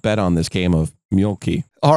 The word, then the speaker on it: Mölkky: Mölkky. Mölkky. Oh, is that how you pronounce it? That's it. Mölkky? Yeah. Mölkky.